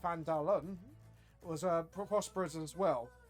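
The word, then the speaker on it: Phandalin: and nearly a human town of vandarian pronounced pandalum was a prosperous as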